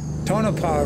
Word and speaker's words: Tonopah: Scott Sven was laughing because I actually pronounced Tonopah right in that recent video, but I murdered Aho or Aho a few times.